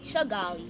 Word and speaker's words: Kigali: We See, I recently had 'em learned put- how to say Kigali properly. It's actually Chigali. Chigali. Chigali, okay. Yeah, it's not They do Chi. say it like that.